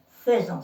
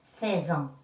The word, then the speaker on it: faisons: Nous faisons, regardez ici, ça s'écrit AI, F-A-I. Et ça se lit faisons, se prononce faisons, pas faisant.